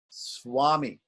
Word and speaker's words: swami: So when we have an S before V, it's pronounced W, wa, swami. We don't say swami, we say swami.